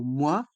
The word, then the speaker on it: mois: le mot moi les voyelles o et i se prononcent et le s est mué moi le forfait Navigo moi